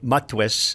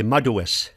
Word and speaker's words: madwes: But in Mi'kmaq, they'll say madwes. Madwes. It's like 3 syllables instead of 2.